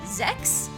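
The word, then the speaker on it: Sechs: I think in Guardians of Ozima they specified it's pronounced Zex, but like I always said it as sex before that.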